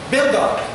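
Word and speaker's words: בן דוד: E aí que nós usamos uma expressão que em hebraico se pronuncia bendot. Bendot. Bendot. O D quase morrendo, bendot.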